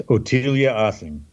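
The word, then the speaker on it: Ottilie Assing: her name because I'm not sure how to pronounce it. It's Ottilia Ossing.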